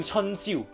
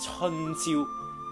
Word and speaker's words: 朝: 诶，注意读音了，是春朝不是春朝，初春的意思，朝就是早晨，这